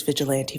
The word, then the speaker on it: vigilante: Vigilante. I want to say that over and over again cuz we've had 17 different pronunciations of that particular phrase. It is vigilante for the record.